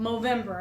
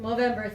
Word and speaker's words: Movember: did not talk about movember and a lot of people when they hear the word movember think why are you pronouncing November with an M because the charity is